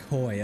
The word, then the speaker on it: Coy: I believe that was that Coy or Kobe? Coy, okay. I said it wrong earlier.